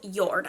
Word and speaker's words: Jord: Actually, it's pronounced Jord. I knew I was going to screw that up. It's spelled J-O-R-D, but it's called Jord.